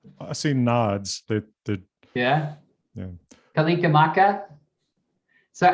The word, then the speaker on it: Kalikimaka: Kalikimaka?